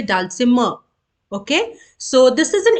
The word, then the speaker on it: dulcimer: we pronounce this word dalsima okay so we don't actually create the sound of R you say dulcimer okay so this is